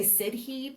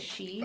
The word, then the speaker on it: sidhe: You would want to say Sidhe, but that's not how you say it. You say it she.